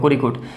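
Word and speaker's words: Kozhikode: और जो हमारा जो कोरिकोट है वो यहाँ पर है, इसका प्रोनाउंसिएशन ऐसे होगा कोरिकोट, ये केरला का एक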